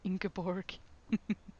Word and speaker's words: Ingeborg: I love the way they say it, Ingeborg. As a Norwegian, Ingeborg is how we would pronounce that.